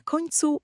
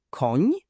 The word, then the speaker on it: koń: To ni to zmiękczony n. Brzmi jak hiszpańskie ni w słowie senior. Na przykład słowa koń, słoń, jesień. Koń, słoń, jesień.